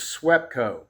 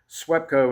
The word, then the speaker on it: SWEPCO: transmission, the 915, is SWEPCO. SWEPCO. And it's spelled just like it sounds.